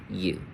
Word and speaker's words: view: view v view v basically like a v space bar u view if that makes sense. Um but it will be a long u vu we have e u e.